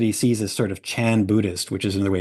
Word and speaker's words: Chan: sees as sort of Chan Buddhist which is another way of saying Zen Buddhist Chan is the Chinese pronunciation of the same character that is as pronounced Zen in Japanese he's worried about people